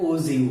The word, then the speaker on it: ogive: First the term of द ओजीव इज a pronounce of द कौन सा होता है, ओजीव होता है and derive from the words ओगी में से क्या हुआ है, ओजीव्स डेवलप हुआ है।